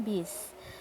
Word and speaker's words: bus: Nah, aturan keselamatan dalam bis. Tulisannya bus, tapi bacanya bis.